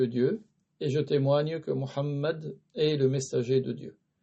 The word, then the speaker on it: Muhammad: Mais ce n'est pas valable de lui qu'ils disent Muhammad ou bien Muhammad ou bien Muhammad ou bien Mahomet. Tout ça, ce n'est pas correct. Donc le prophète s'appelle Muhammad.